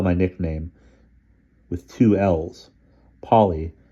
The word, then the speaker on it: Polly: Polly tends to be pronounced as so it rhymes with pole.